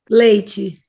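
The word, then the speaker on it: leite: what is she saying so say this word leichi it's different she so the Brazilian does the chi sound for a TV and we just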